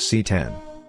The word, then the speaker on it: CX: the LG CX pronounced C10 is that amazing from